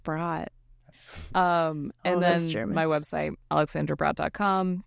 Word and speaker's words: Brodt: And that's B-R-O-D-T, B-R-O-D-T, I believe, right? Pronounced Brott.